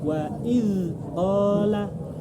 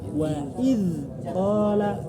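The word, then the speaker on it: وإذ قال: Wa idza qala Wa iz qala.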